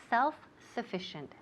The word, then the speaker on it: self-sufficient: repeat self-sufficient muy bien self-sufficient self-sufficient now notice here self-sufficient uh in the second word sufficient the accent falls on the second syllable self-sufficient self-sufficient okay next